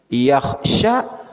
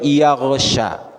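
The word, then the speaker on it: يخشى: Yakhsha dibacanya yaghsha. Nya yakhsha. Yaghsha jauh, kho tertukar dengan ghain.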